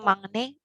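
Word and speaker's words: 막내: Kayak mangne itu emang eng bacanya atau yang kayak Makne.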